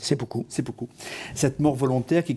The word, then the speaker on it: seppuku: Mishima qui pratiqua le seppuku, comment on prononce? Seppuku.